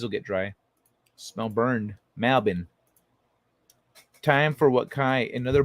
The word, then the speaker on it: Melbourne: to me melbourne oh melbourne oh you don't pronounce r it's melbourne marbin actually let me let